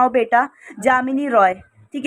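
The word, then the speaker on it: Jamini Roy: ये जामिनी रॉय हैं, जामिनी रॉय इनको बोला जाता है, वैसे इनका नाम यामिनी रॉय था, बंगाल के ये रहने वाले थे।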